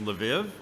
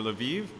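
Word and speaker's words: Lviv: run the stuff to the city of vive which if you have american pronunciation is lev or levive they run the they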